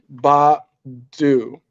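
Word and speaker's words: Baidoo: uh center back named Samson Ba du. Um No, it's not spelled like Erykah Badu. B A I D O O.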